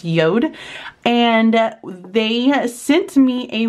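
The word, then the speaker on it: Jord: with a company called yod watches um spelled j o r d but it's pronounced yod and they sent me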